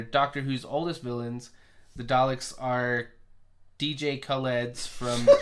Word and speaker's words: Dalek: My kid used to get pissed off at me because I used to say Daleks. You simpleton. Yeah, because I'm just like, it's an A. It's Daleks.